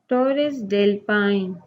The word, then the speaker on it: Torres del Paine: और दूसरे पेज पे है पेज 49 पे टोरेस डेल पाइन. टोरेस डेल पाइन. Pronounce it Torres del Paine in Chile.